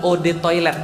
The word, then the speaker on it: eau de toilette: aja Gan nggak bayar eau De toilette adalah Ode toilet bacanya e-awb atau Ode saatnya air toilet toilet Kenapa